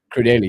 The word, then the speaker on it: Crudelli: Is it Anthony Crudell or Crudelli? Crudelli, yeah. I'm saying it wrong.